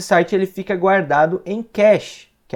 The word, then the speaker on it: cache: Alguns abrasileirando falam cache, mas é cache em inglês, que é um tipo